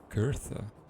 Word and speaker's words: Gerda: Gertha. Okay, that's how you pronounce it apparently.